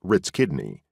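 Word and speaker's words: RTsKhIDNI: documents of recent history RTS KH idni pronounced Ritz kidney soon opened for the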